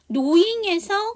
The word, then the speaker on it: knowing: knowing에서 K가 묵음이죠.